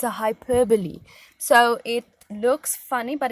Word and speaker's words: hyperbole: you might not know as well it's a hyperbole so it looks funny but it's it's pronounced hyperbole now this is when you exaggerate so I'm